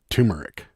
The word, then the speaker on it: turmeric: is silent it happens there is an R but most people don't pronounce it with the r there you go PR